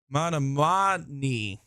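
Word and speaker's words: Menominee: Manamani. Got it. Manamani, Michigan. Thank you for spelling it phonetically.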